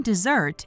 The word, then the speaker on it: dessert: The noun dessert is pronounced the same as the verb desert.